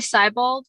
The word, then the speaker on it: Siebald: Did I pronounce that your not last name right? It's actually Siebald, but it's a Siebald.